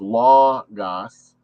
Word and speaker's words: logos: the universe and hence the word logos which is pronounced as law gas in other words the